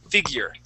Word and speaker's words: figure: this word is figure we would not pronounce that e at the end that e is going to be silent figure figure okay okay and